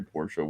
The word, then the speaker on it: Porsche: the real way the actual way let's say Porsche which is uh correct way which is of course I got the EVS one yeah but that's not that's not what Americans do we don't pronounce foreign things properly we've we've called it pours for the entirety of my life and we call Adidas